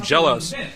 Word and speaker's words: XellOs: and I understand um I was told by one of the Koreans that they actually pronounce his name jealous but I'm gonna go with zelos for now because most of the foreigners know um him by that pronunciation now Coliseum is a